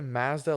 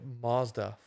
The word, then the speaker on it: Mazda: Yeah, and the fact that we say Mazda like Mazda and Americans say Mazda.